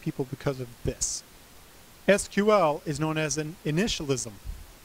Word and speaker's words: SQL: when I hear people call SQL sequel because it's not sequel it's SQL it takes the exact same amount of time to say it the first commercial version